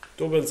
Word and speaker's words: tuples: توبلز أو تيوبلز على حسب ما أنت عايز تنطقها، تمام؟